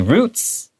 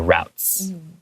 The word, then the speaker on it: routes: It's really really interesting You can say roots or routes And they stop for a short time Where?